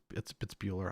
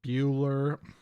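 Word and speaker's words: Buehler: I guess it's Bueller.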